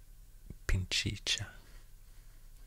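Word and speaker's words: Pichincha: ecuador actually the province name is called pinchy pinchicha i think it's pronounced that way then we will enter kotopaksi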